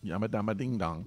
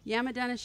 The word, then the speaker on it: Yamadanishiki: Yamadanishiki. Yamadama ding dong. No. Yamadanishiki.